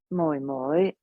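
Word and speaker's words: 妹妹: So ga right, just way up high, ga and then your youngest sister, moi moi, right, moi moi, right, moi moi, moi moi.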